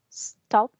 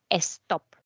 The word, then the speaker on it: stop: a certain skill, and most people don't notice that we tend to put an E sound at the beginning of the word. So instead of saying stop, people say stop.